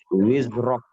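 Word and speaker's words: وِزْرَكَ: Ada zai, jangan sampai terpantul. Di sini zai. Wizrak. Nah, ini jangan sampai terpantul. Wiz. Melainkan dia harus disofirkan atau disiulkan suaranya. Wizrak.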